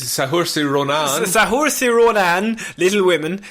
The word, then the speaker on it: Saoirse: I don't know how to pronounce Irish names, Sean. It's Saoirse Ronan.